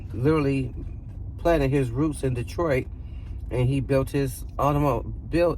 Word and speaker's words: Detroit: So the original and correct pronunciation for Detroit is Detroit, where the R is silent.